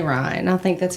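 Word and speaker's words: Ryne: But doppelganger Ryan number 2.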